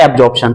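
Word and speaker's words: absorption: तो प्रोनाउंसिएशन का ध्यान रखें, एडजॉर्प्शन और एब्जॉर्प्शन।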